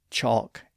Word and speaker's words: chalk: For example, we find this scenario in a lot of words that have the ALK spelling, like talk, walk, chalk, and balk. Of course, in that situation, we have the vowel letter A, then the L, and then the consonant K. And notice that in all of those words, the L isn't pronounced.